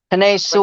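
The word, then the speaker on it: Penei Sewell: How do you pronounce his name? Panay Sewell.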